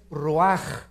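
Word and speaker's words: רוח: hebreo es y la palabra espíritu es raj se escribe ruach entonces vemos aquí dos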